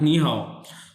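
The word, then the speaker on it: 你好: नी और ये क्या है हाउ हाउ सो नी हाउ का मतलब क्या होता है हेलो हेलो ये एक ही लफ्ज है ना नी हाउ तो इसमें एक सिलेबल है नी और दूसरा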